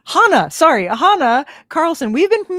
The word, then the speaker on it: Hannah: Hannah Hana. Sorry, Hana Carlson. We've been mispronouncing your name the entire time, including on the promo video.